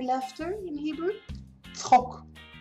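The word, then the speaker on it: צחוק: Tzchok. Tzchok. It's that ch again. Very funny. For English speakers, by the way, a ts is also pretty hard.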